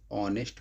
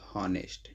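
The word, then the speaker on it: honest: इसको ऑनेस्ट पढ़ते हैं, ना कि हॉनेस्ट। तो ऑनेस्ट पढ़ेंगे, ऑनर पढ़ेंगे, ऑनरेबल पढ़ेंगे, आवर पढ़ेंगे। यहाँ पर यह साइलेंट हो जाता है तो इसलिए इसके पहले हम एन का प्रयोग करेंगे।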